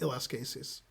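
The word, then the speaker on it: Eliskases: i'm pronouncing it wrong but it's it's it's spelled like ls cases e-l-i-s-k-a-s-e-s that's what you're talking about right pat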